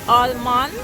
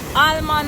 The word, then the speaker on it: almond: how to get the almond out of it. Them say almond or almond, whether you want to make the L silent or you want to pronounce the L.